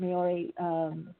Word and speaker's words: Maori: And I remember with the Maori, is that how pronounced it? Maori elders and healers.